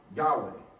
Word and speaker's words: Yahweh: But the scholarly way to pronounce the God of Israel is Yahweh.